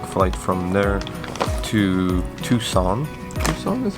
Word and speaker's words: Tucson: Tucson is how you say it? Yeah. Tucson, which is like 2-hour flight to the west,